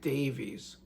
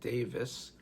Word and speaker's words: Davies: We lost half of the super creative team of Super Rick Davies, although some might pronounce it Davis.